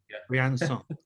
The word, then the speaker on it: Briançon: So, before you stopped, you made a stopover in France at Briançon, if I'm pronouncing that correctly. But Briançon. Briançon.